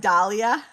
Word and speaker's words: Dahlia: You say it like Dahlia. I'm a Midwestern girl. I was right. I knew Midwestern people would pronounce it with a soft A, but us crazy Northeasterners would give it a hard A.